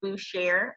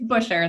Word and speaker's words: Boucher: This is Lady L, and I have the awesome pleasure of being here with Miss Boucher of, and I'm pretty sure I butchered your last name. It's Busher.